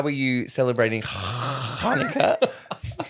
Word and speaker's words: Hanukkah: And Max, are you how are you celebrating Hanukkah? Like, thank you for using the correct pronunciation.